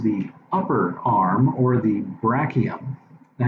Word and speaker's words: brachium: And remember, the arm proper is the upper arm, or the brachium. Now, you'll also hear that pronounced by some people as brachium. Brachium, brachium. Either way, it doesn't matter.